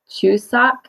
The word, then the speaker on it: Chuseok: right here so - like a train choo-choo and then sock that's how we say that suka the conclusion and